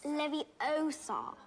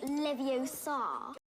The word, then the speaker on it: Leviosa: Wingard Le Leviosa besides you're saying it wrong it's Leviosa not leevar she's so smart yeah